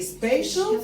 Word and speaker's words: special: It's a very special farm. It's a very special farm. ما ننساش حبايبي special، السي اتنطقت هنا الش عشان جه وراها 2 vowels، فساعتها بنقول السي ش.